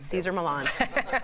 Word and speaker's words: Cesar Millan: Caesar Milan.